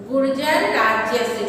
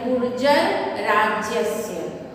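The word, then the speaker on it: गुर्जरराज्यस्य: जैसे गुर्जर राज्यस्य, गुर्जर राज्यस्य, जो ऊपर में रेफ है तो वो र पहले उच्चारण करते हैं, गुर्जर राज्यस्य।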